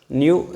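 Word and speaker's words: ν: will write it is it is pronounced as new and new new so what is frequency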